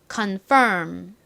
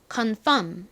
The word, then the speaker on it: confirm: 발음하는 상태에서 미음을 발음하다이 입을음 다물어 줍니다 그러면 confirm 이렇게 발음이 되죠 간소화해 발음할 때는 그냥이 R 소리를 빼고 confirm 정도로 발음을 하셔도 좋습니다 confirm 한국식으로는 어차피이 단어를 conf이라고 말하죠 컨의 의미가 뭐죠